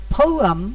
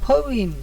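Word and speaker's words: poem: আর একটা কথা, ওই যে পয়েম, আমরা যে পয়েম বলি, পয়েম না, উচ্চারণটা হলো ফৌয়াম অথবা ফৌইম বা ফৌয়াম, কিন্তু আমরা বলি পয়েম।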